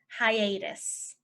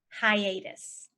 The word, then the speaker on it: hiatus: said it was crooked the next one is hiatus hiatus hiatus is just like a break so for